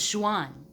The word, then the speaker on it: Xuan: In our language, that's actually pronounced more like a Z, like a Z and an SH mixed together. So Zh. And it was Xuan, Xian.